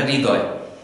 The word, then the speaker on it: হৃদয়: হৃদয় হাস এবং হ্রস্য এখানে অনেকেই উচ্চারণ করে থাকি হৃদয় এবং অনেকেই উচ্চারণ করি আমরা হৃদয় এ দুটির একটি উচ্চারণ সঠিক নয় আমরা হ এবং র এর অর্ধেক অর্ধেক উচ্চারণ সংমিশ্রণ করে আমাদের উচ্চারণটি করতে হবে এটি খুব কঠিন একটি উচ্চারণ হৃদয় হৃদয় এটিকে যদি